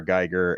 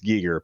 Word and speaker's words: Giger: no but it's it's Giger because it's Swiss and that's how they pronounce it but I feel like